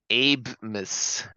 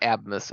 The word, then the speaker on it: Abmas: Abe Miss. It's pronounced Abe-Miss. Okay, not Abmas.